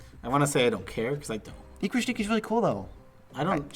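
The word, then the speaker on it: Ikra Shidiqi: Ikra Shadiki. I remember of Rafiki. That's just the way you said it. Rafiki. It does rhyme. Ikra Shadiki rhymes with Rafiki.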